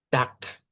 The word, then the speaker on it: Tag: Y eso es lo que pasa con la palabra tak, de tarde. Se escribe, miren, con la G, pero se pronuncia con la K.